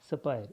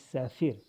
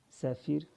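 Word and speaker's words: Sapir: sephiroth hypothesis so yes a pir is not pronounced as supplier it is saphir saphir for hypothesis and according to this hypothesis what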